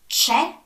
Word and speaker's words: c'è: So when the C is followed by E or I, it's pronounced as in church. So c'è, ci, c'è, c'è, c'è, ci, ci, ci.